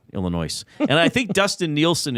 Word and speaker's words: Illinois: Yeah, and I know it's pronounced Illinois, not Illinois.